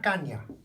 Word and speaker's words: caña: just a caña, una caña. It's got the tilde on, una caña.